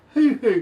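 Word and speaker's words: huhu: lifted but have you ever heard of a who who grew up uh you said it one more time who grew up it's spelled h-u-h-u grew up okay you're familiar with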